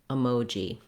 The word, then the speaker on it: emoji: correct is actually to start the word on the stress syllable, mo. That would sound like saying moji, emoji.